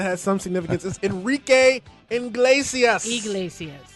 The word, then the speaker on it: Iglesias: All right, and the only other person that has some significance is Enrique Iglesias. Iglesias.